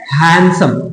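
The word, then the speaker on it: handsome: हो है ना तो हैंडसम ना हैंडसम आदमी नहीं होता है होता है हैंडसम ये डी जो है ना ये डी साइलेंट है यही है अंग्रेजों की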